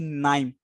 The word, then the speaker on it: KNIME: So KNIME, you can simply compare it with knife, right?